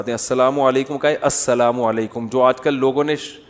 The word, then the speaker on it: السلام علیکم: علیکم اور صلی اللہ علیہ وسلم کا صحیح تلفظ بتا دیں. السلام علیکم کا ہے السلام علیکم, جو آج کل لوگوں نے ساشے پیش کر رہے ہیں سلام, السلام علیکم, ایسے سلام ہو رہا ہے, السلام علیکم.